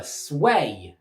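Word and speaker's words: Sui: Han dynasty collapsed, the Sway dynasty took control of all of China. I spelled like this, but apparently you pronounce it sway.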